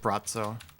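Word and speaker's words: Braco: it's bratzo or something it's pronounced like bratzo it's written like like bracco does anyone know what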